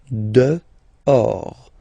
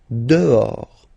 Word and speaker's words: dehors: Okay, so remember final S not pronounced, and then this H in French doesn't exist phonetically, so you don't pronounce it. Dehors. Dehors.